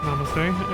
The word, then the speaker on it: namaste: Religious and secular culture come together in the increasing use of namaste, pronounced namaste.